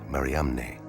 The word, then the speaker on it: Mariamne: the first name in the inscription, the unique Mariamne, never found before or since on any other ossuary? In the Acts of Philip, Mary Magdalene's name is spelled M-A-R-I-A-M-N-E, Mariamne.